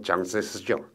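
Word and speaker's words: 蔣介石: 미국의 프랭클린 루즈벨트, 영국의 처칠, 중국의 장제석, 중국 발음으로 장세스죠.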